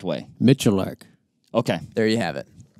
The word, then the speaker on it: Miculek: Miculek.